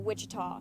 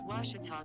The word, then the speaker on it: Ouachita: tall back in texas everybody pronounces it wichita but really it's ouachita washington washington how would you pronounce it it's washita baptist university get it right it's